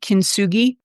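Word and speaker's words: kintsugi: you familiar with the Japanese um artwork called kin sui uh unfor okay so I'll spell it for you just so you and your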